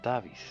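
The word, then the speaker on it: Davíð: Though for us it's David. A soft TH sound at the end.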